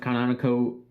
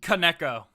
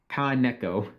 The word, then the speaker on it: Kaneko: Kaneko. Kazuma Kaneko. Thank you. Just say Neko, but Ka before it. Kaneko.